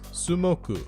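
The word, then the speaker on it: スモーク: top it all off, Moku even forms part of the Japanese pronunciation of the English word for smoke, which is Sumoku.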